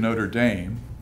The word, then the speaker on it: Notre Dame: I'm proud to say that the University of Notre Dame note that pronunciation uh invited and had the Two Chief